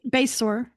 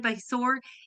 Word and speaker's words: Basore: I finally know how to say her last name correctly. It's All it's right. Basor. Oh, see, and then I just ruined it. I ruined it. It's That's okay. Besor.